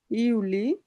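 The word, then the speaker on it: Juli: Mass April my, ইউনি, ইউলি, August, September, October, November, December.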